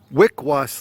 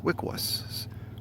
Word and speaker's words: Wickwas: Wickwas, like W-I-C, Wick, and then was, but not like Kilroy was here, W-U-Z. Was, like he was going to swim in the lake. Was, W-A-S, Wickwas. Wickwas? Wickwas!